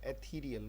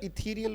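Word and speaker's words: ethereal: चलिए जी, वर्ड आ गया एथीरियल. बोलो. और इथीरियल भी बोला जाता है. इथीरियल भी ठीक है, एथीरियल भी ठीक है, जो भी आप बोलना चाहें.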